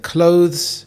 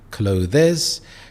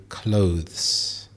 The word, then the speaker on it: clothes: If you said clothes, you got it correct. A common mistake is to say clothes. However, we combine the sound at the end to say clothes. There is only 1 syllable, not 2, so clothes and not clothes.